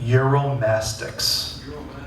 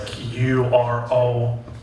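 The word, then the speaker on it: Uromastyx: Euromastix. Yeah, and it's spelled as weird as it sounds. It's like Uromastix.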